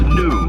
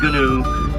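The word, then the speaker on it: gnu: it's called G and you pronounced new not GU just new for the grunting noises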